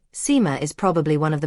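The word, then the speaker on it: Sima: It is not pronounced simu. Instead, the first syllable rhymes, roughly speaking, with the English word uh the second syllable roughly rhymes with more. So together, it's sort of like sumo.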